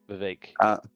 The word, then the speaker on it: Vivek: But on the other side here, I'm going to try to say it Vivek, because it rhymes with ache, is what I heard. Vivek.